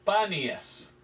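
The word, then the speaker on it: Banias: Vanías es el nombre de un lugar aquí cerca, pero en realidad es panías. Pero los turcos se llama, los musulmanes no pudieron pronunciar la P. Entonces ellos llamaron este lugar Vanías.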